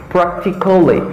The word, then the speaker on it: practically: Now the second one is practically. Don't say practically. Practically. No. It's practically. Because the letter A in this word, it's not pronouncing.